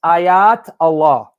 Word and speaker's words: Ayatollah: about the ayatollah khomeini the way you're pronouncing english because you know we english people we butcher every language it's ayat allah meaning sign miracle of